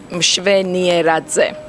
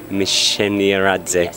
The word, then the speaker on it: Mshvenieradze: You are not the only person, it's difficult for you to pronounce it. Exactly. My surname is Mshvenieradze. Mshvenieradze.